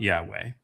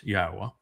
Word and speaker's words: Yahweh: And it's not Yahweh, it's Yahwa.